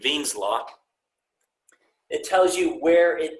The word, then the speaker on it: Wien: So there's an equation called Wien's law, spelled with the W but pronounced with the V, Wien's law.